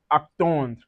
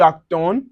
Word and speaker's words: attend: gives us j'attends, tu attends, il attend, elle attend, nous attendons, vous attendez, ils attendent, elles attendent. So, remember for the je, tu, and il L, the D is silent.